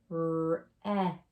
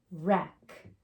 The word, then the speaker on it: wreck: So W is silent, ghost letter. Go right to the R. So we don't say anything. Right, right. Like I can write something. Quiet W. Wreck. Wreck.